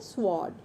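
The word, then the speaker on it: sword: तो यहाँ पर जो है आर साइलेंट है इस वर्ड में, तो ये वर्ड क्या है? स्वॉर्ड।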